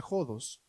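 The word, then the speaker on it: ὁδός: La palabra caminos en griego se pronuncia jodos, en el griego bíblico, y jodos significa que es inconstante, sí, en su camino, en su trajinar, en su meta.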